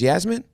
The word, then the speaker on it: Yasmin: need friends like, no, that's not even Jasmine. It's Yasmin? I call her Jasmine, Yasmin. It okay, really okay. Jasmine, which one do you, what is your name? You only. She don't even care. It's spelled with a Y? Yasmin. It's Yasmin.